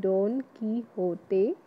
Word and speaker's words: Don Quixote: Don Quixote, it is the pronunciation, say like Don Quixote.